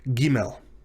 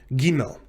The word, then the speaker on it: Gimel: which is the letter Gimel. Gimel. This is pronounced, when it has the Dagesh Lena, as the letter G in the word God.